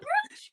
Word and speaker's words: brooch: It's a brooch, people, not a brooch.